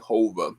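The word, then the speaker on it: Whova: Hova is, I think, the name that they pronounce it as. But it was a very interactive and simple app to use, no matter what your age is.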